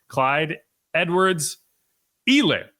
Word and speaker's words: Clyde Edwards-Helaire: So the last thing we'll talk about this segment before moving on, Clyde Edwards-Helaire.